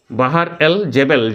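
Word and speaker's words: Bahr el Jebel: বাহার এল জেবেল, জেবেল উচ্চারণ শুনবে, বাহার এল জেবেল।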